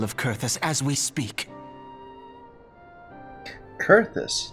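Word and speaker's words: Coerthas: Kurthus, not Karthus? Been saying it wrong.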